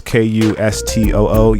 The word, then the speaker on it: Cousteau: You can find me at Cousteau, which is Kustoo. Yes, I know it's spelled weird, but I thought it